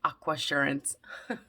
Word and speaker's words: Aquasurance: of right now and i figured out how to say it it's aqua assurance i'm a little late